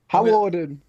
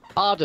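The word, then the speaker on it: Hawarden: It is that station, but it's not pronounced like that. Harwarden.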